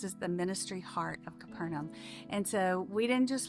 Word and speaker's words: Capernaum: How do you pronounce this place? Capernaum. Capernaum Studios.